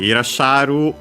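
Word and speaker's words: irassharu: Okay, Irasharu on its own accented on the sha.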